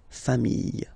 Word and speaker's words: familles: the plural form, les familles, okay? Remember, chien, singular form, chien, same pronunciation, but you put this S, okay? Final S, not pronounced. Famille, singular form, famille, plural form, same pronunciation, S, not pronounced.